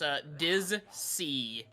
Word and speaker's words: Dizsea: Okay, so it's spelled like the ocean. It's Dizsea.